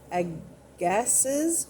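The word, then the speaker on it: Agassiz: you doing geology is sterno woodward brewster and ag gasses which is a-g-a-s-s-i-z and then astronomy was kepler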